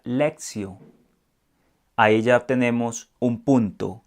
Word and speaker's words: lectio: La expresión latina lección divina, es decir, que viene del latín, por eso se escribe lectio, pero realmente se pronuncia lectio.